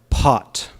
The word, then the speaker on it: pot: Just like if you say the word pot, pot, with an American accent, pot, can you hear the h? Pot, pot, right? Pot. You feel it? Even though it's spelled P-O-T, what we're actually saying is P-H-O-T. Pot. But the T has no H. Pot. No H, right?